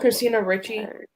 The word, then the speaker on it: Christina Ricci: But since we're on the topic, how do you pronounce that? Christina Ricci or Christina Ricci? I always had trouble. Christina Ricci.